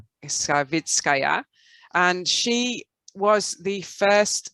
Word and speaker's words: Savitskaya: And here we have a Soviet astronaut, cosmonaut, Svetlana Satitskaya. Did I say it right, Alexander? Savitskaya.